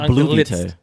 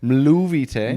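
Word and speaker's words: Mluvíte: It's not Bluvite. Mluvite with an M. Movite. Mluvite Bluvite.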